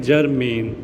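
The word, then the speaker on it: germane: तो जरमेन को हम प्रोनाउंस कैसे करेंगे? जरमेन।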